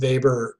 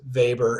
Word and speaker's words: Weber: Notice Weber is pronounced Weber and not Weber like it looks in print, W-E-B-E-R, but it's pronounced Weber. He's German, so just go with it.